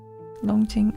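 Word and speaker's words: Longjing: The first word is like long like long in English. And then and the second the jing is like j i n g dragon wealthy.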